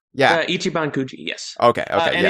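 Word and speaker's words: 一番くじ: It's Ichiban Cooji. Is that how you pronounce it? Ichiban Coogi. Ichiban Cooji.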